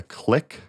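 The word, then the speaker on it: Kliq: i found this one i think the click kl i q is how it's spelled but it's like the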